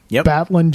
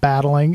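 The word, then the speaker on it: Battlin': who is a boxer batlin Jack Murdoch very important the pronunciation it's not battling it's batlin yep correct Jack Murdoch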